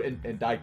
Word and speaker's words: indict: With regards to the witness, Geiru Tornado, the defense wishes to indict her. Indict. Indict? Indict. The sea is silent? That's correct. Okay.